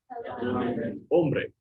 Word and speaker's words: hombre: Hombre. Very good. Yeah. No H, so or no sound for the H, so hombre. Hombre.